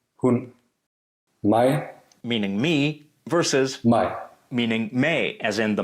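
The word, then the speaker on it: maj: Mig, meaning me versus mig, meaning May, as in the month of May. mig, mig. It can appear in syllables with a long vowel or in syllables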